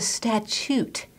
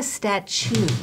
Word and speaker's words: statute: No, you're saying it wrong. It's called a statute, not a statue.